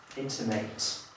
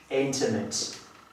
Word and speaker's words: intimate: A jeżeli tutaj używamy sobie tego słówka jako czasownika, wówczas z tą końcóweczką, mate, wówczas używamy znaczenia dać komuś coś do zrozumienia. Ok, możemy sobie ułożyć przykładowe zdanie. How can I intimate this to my intimate friend. Right? So, once again, how can I intimate this to my intimate friend? Widać wyraźnie różnicę w końcówkach.